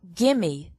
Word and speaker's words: give me: ride in this question the words give me also sound like gimme these pronunciation changes also